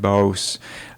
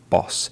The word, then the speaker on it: boss: boss, and she said boss rather than the word boss. Short O sound, oh. Short, so it would be boss.